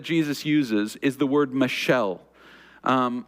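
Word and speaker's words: מָשָׁל: uses is the word Michelle um if you think of like a girl named Michelle all right that's how it's pronounced Michelle um and that word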